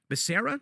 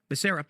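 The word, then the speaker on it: Becerra: the current HHS secretary is uh Xavier beera Basera does any pronounce it Basera yeah he is a lawyer former AG of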